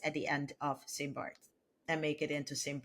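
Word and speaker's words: St. Barths: So the name of the island is St. Bart. It is not St. Bart's with an S at the end.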